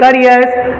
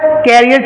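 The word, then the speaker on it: career: नहीं होता भाई प्रोनंसिएशन इसको लोग अक्सर कैरियर चिल्लाते हैं कि हाउ is your कैरियर going on इन माय कैरियर इन हिज कैरियर in your कैरियर ये सारे कैरियर नहीं होते भाई इट इज प्रोनाउंस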